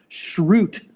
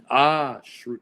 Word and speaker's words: Schrute: Dwight's last name is pronounced Schrute. Schrute.